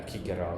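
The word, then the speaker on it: Cicero: A and an A, it would have been pronounced hard. Yeah, Kigaro. Yeah, kikero.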